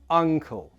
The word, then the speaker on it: uncle: To make this sound correctly, your mouth is more narrow. Compare the two mouth shapes. Ankle, uncle.